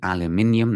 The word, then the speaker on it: aluminium: Canadian steel and aluminium yes I said aluminium that's how you say it after orario hikes us